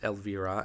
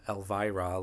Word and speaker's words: Elvira: The younger girl we had just met is Elvira Blake and it is pronounced Elvver, not Elvra like the Princess of Darkness.